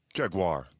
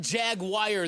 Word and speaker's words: Jaguar: I don't know about it's not Jaguar. There's no wire in wir.